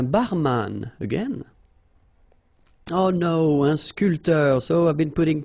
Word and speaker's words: sculpteur: Un sculpteur. Un sportif. Un peintre. Un photographe. Un journaliste. All right, so un barman. Un sculpteur. Same thing here. This P here is not pronounced.